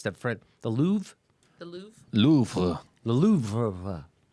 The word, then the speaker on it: Louvre: artist and CNN is the Louvre server how do you say that it's that Fred the louvre louvre louvre louvre right yep boy finally someone